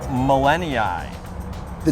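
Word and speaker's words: gmelinii: in pronunciations it is millennia it starts with a g i could hear that in your voice there the g is apparently silent artemisia millenniai this is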